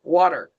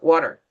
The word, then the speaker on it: water: So if you like when I teach beginning, if I try to say for example water, like an English speaker, water, they are not going to pronounce it correctly because they don't hear the T.